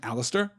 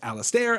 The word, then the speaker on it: Alistair: much about pronunciation right I pronounce my own name Alistair it has been pronounced Alastair I was there you know Alasdair there are numerous close